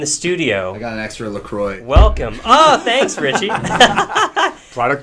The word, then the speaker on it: LaCroix: got an extra LaCroix.